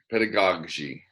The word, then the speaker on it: pedagogy: a degree in piano pedagogy my parents had met hey austin shook knows how to pronounce pedagogy write that down that's pedagogy and she was from